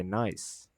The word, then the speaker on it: gneiss: A gneiss rock is pronunciated with silent G and pronounced by gneiss.